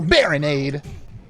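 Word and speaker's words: Barinade: Time to battle Baronade. Rhymes with Gatorade. So true. Does it? Nade does not rhyme with aid.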